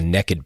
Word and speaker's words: Nekkid: If you're interested in hearing a conversation about race and modern American hunting, check out episode 3 of the Naked Podcast. That's spelled Nekkid, and the episode's called So You Want to Hunt and Gather.